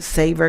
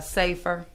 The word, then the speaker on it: SAFR: You mentioned something when you were talking about a SAVER grant for firefighters. Did you say SAVER? It's a safer.